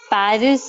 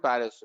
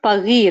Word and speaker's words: Paris: there so that's right paris we call it paris but the local people they say pari right it's not pagi right it's pari is the verb here that